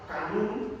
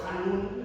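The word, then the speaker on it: חנון: Misericordioso y clemente, esa palabra clemente es Hanun o Hanun, es la pronunciación correcta.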